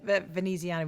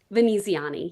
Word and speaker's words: Veneziani: I was just because you said Veneziana, we were just like hearing how you meant to pronounce it. Veneziani, yes.